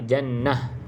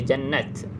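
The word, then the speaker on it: جنة: dia macam bunyi ha Jannah tak boleh baca jannat kalau jannat tu huruf ta yang terbuka kalau ta bulat bacanya ha Jannah kalau kita nak Berhentilah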